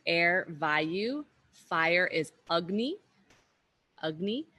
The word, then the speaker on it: Agni: Agni, that's the short A, so it's pronounced like a sound rather than Agni, Agni.